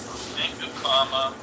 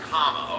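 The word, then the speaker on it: Kamala: I thought uh C am I pronouncing that right camel yes comma oh think of comma okay comma I thought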